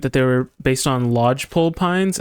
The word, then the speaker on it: lodgepole: they were based on lodgepole pines. I also said it wrong. I said log pile or something.